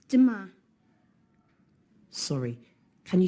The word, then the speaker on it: demain: It's demain. Sorry, can you say that again, please? Yes, it's demain. How do you spell that?